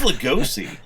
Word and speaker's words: Lugosi: do you pronounce that last name? Lugosi? I think it's Lugosi.